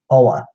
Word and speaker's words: Oa: summation of what they are to number one ola ola ola that is the Green Lantern homeworld